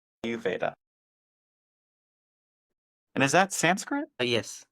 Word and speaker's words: Ayurveda: So how would Ayur, you pronounce it? Ayurveda. Ayurveda.